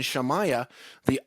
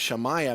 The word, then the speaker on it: Shemaiah: The word heaven, Shemaiah, that's our daughter Shemaiah. She just turned 12 on Friday. That ayah sound at the end of Shemaiah means something that has no beginning and no ending.